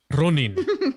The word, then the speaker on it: Ronin: Ronin.